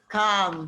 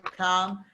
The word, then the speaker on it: calm: message you will get the word calm he said the word come and it should be silent l so it should become